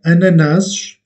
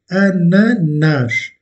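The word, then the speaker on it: ananás: termine en S, mais c'est un mot également où l'accentuation est faite sur la dernière syllabe. Ananas, ananas.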